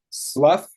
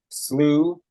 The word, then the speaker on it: slough: different pronunciations that can be pronounced Slough slew sloth slow that's floor uh so I think it can be pronounced slow but uh in any case if it's love it means to discard if it's Slough uh then it's like a marsh yeah if it's slew